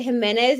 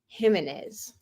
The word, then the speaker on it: Jimenez: with an H okay hers is pronounced like the Spanish pronunciation of a j so but it's where they put the inflection because some people say it Jimenez and some people say it Jimenez do that make sense